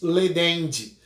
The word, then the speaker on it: laedendi: A gente fala, através da expressão em latim, animus ledendi. Se escreve laedendi, mas se pronuncia ledendi.